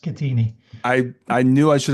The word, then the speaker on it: Schettini: So with that like to welcome Shatini. Thank you Brian. Thanks for that introduction. Very generous. Uh yeah it's pronounced everyone gets this wrong but it's actually pronounced Katini.